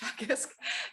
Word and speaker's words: Teagasc: So Teagasc is, that's an Irish word. You kind of probably would think it pronounced differently, but it's pronounced Teagasc.